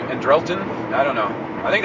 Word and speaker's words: Andrelton: Shortstop was Andrelton Simmons. They've been saying Andrelton. I would tend to pronounce his name Andrelton.